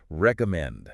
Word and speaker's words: recommend: Recommend. Recommend. Now, the trick to making this sound natural is the stress, the musical rhythm. The strongest, loudest part of this word is the very last part, recommend.